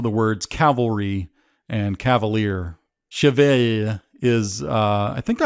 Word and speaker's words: Cheval: french for horse and it's pronounced kind of like chevy with a sustained l i can't quite do